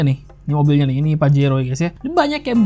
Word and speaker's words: Pajero: ini Mitsubishi Pajero Evolution bacanya Pajero ya guys ya Bacanya jangan pakai Hero cuy kata ini nih adalah bahasa kotor dalam bahasa Spanyol Jadi kalau misalnya kalian